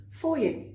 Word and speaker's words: foyer: Fancy way of saying lobby is foyer. Foyer. Not foyer. Foyer.